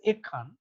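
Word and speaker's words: এক্ষণ: In Bengali, we pronounce it as Ekhan.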